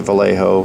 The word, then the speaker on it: Vallejo: And yes, I say it Vallejo.